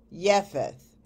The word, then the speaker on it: Japheth: Now the word Japheth is 3315 in Strong's Concordance and is pronounced Japheth.